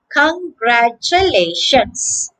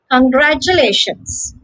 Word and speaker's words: congratulations: 2 in the middle yes t u in the middle they are pronounced cha okay they are pronounced the word has a turtle of five syllables okay congratulations congratulations the stress is only